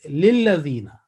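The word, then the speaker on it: لِلَّذِينَ: The right concept and this pronunciation will be, or understanding will be, that this lam maksur or disjointed lam is basically is a part of the next word, which is lillazina.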